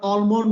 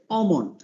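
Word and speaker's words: almond: হলো অ, এই মাঝখানে কিন্তু আমরা অলমন্ড বলবো, আসলে অলমন্ড কিন্তু না, এই যে এটা উল্টা ই যেটা, এই উল্টা এটা অতি সামান্য এ উচ্চারণ, এটা হবে অমন্ড, নট অলমন্ড, অমন্ড, অমন্ড, অমন্ড।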